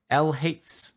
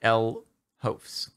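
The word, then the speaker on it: LHoefs: My name is pronounced L Hafes, not L Hofs. Gotcha. I'm going to try to remember that O-E is pronounced A.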